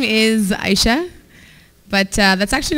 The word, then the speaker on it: Aisha: Like, it's not just like a suggestion when I say my name's Aisha. You don't just get to choose whatever you're most comfortable with pronouncing.